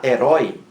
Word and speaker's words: herói: A última sílaba é a mais forte, herói, terminada em ditongo oi, aberto.